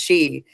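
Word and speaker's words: Sídhe: City, pronounced she, is a Gaelic word meaning fairy mound, or realm of magical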